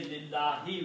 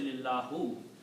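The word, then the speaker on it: لله: Okay, we say lillahi, we don't say lillahu, because this lam is changing the sound.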